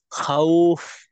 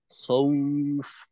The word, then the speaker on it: خوف: আচ্ছা, আপনার কিন্তু অনেকটা খাউফ এইরকম বোঝা যায় আর কি। খ খৌফ মিন خوف.